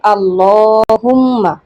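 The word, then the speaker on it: اللّٰهُمَّ: আল্লাহুম্মা, এই শব্দটি আসলে আল্লাহুম্মা না, আল্লাহুম্মা। বেশিরভাগ মানুষই আল্লাহুম্মা বলে, শব্দটির সঠিক উচ্চারণ হবে আল্লাহুম্মা।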